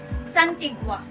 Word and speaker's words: santigua: Or the third word that I want to share to you is the word santigua.